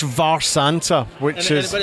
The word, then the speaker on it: Mharsanta: pronounce the name again for me so it's pronounced VAR Santa which is but it's it's weird it's a